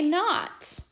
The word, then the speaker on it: knot: we can read them, remembering that the K is silent and that those two letters just make the N sound. All right, here we go. Knox can tie a knot.